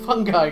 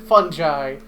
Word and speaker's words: fungi: some interesting looking fun fun guy growing on it fungi I've heard it pronounced both ways that I've never been sure which is correct so I usually just say both never seen anything like